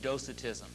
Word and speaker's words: Docetism: And it was the translation in Arabic was marked by pronounced Docetism, D-O-C-E-T-I-S-M, Docetism, which is a form of Gnosticism.